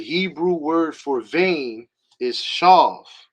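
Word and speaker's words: שָׁוְא: The Hebrew word for vain is shav, right? The Strong's Concordance entry for that would be Strong's H7723, right? The transliteration is shav. The pronunciation, or how you should say it, is shaw.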